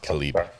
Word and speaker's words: Caleb: It's spelled like Caleb. Caleb. Pronounced Khalib.